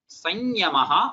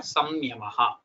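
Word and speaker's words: संयमः: Now you have either sanyamaha or samyamaha, samvatsaraha or samvatsaraha, sanlapaha or samlapaha. Get it?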